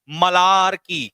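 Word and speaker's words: malarkey: अब इसका प्रोनाउंसिएशन क्या है जरा ध्यान से सुनो। मलारकी।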